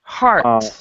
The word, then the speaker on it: heart: are arthritis heart rate so this one we actually pronounce ch heart rate heart rate so it's it's like an art art so the e is even silent there's a heart okay um ronaldo can